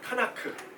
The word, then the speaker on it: 타나크: 나 크 이렇게 써요. 타나크. 그래서 이거를 타나크라고 읽어요.